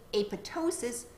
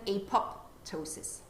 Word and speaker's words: apoptosis: footnote on page three it also provides instructions on how to pronounce apotosis they recommend that the second p is a silent p and that you say apotosis rather than apoptosis have a look ker